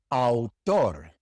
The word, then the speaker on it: autor: Autor, autor. You have to pronounce the A and the U. Au, autor. It is not autor, it is autor.